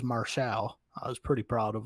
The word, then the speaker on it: Martial: in the candy store he actually pronounces qt martial's name correctly says marshall i was pretty proud